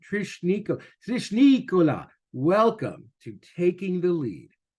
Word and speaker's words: Nicolas: two years Trish niika I'm going to think of Bola but with an N Trish Nik Trish Nikola welcome to taking the